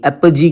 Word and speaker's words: apogee: APOGEE, एपजी कहते हैं इसको।